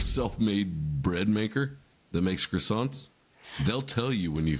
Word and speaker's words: croissant: That is pronounced croissant, not croissant.